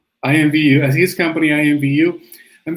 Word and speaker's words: IMVU: what he's doing with at what was the pronunciation? IMVU. IMVU, as his company IMVU.